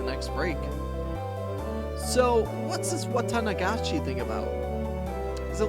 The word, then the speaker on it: Watanagashi: The Watanagashi. Oh, come to think of it, she did say there'd be a festival at the shrine during the next break. So, what's this Watanagashi thing about?